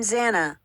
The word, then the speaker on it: Xana: I'm Zana, pronounced Xanax without the X, is how the petite brunette introduced herself to the Pi on the first day, and everyone laughed.